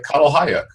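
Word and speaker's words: Çatalhöyük: And I was reading about the city of Catalhayuk, if I'm pronouncing that correctly.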